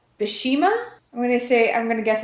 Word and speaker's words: Bheeshma: Bheeshma is how you pronounce this movie.